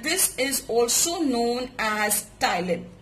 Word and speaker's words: ptyalin: is also known as ptyalin. P is silent, and this helps in breaking down of sugars, basically, which are present in our food, into simple sugars called as maltose.